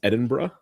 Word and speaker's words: Edinburgh: Yeah, I went to went to Edinburgh for a couple days and yes, that is the correct pronunciation. It is Edinburgh.